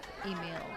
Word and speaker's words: Emil: How do you pronounce Technically, you say the E. Uh-huh. So it is kind of how it's spelled. Emil? Yes. That's so how I say it. Long E, Oh. Emil. Emil.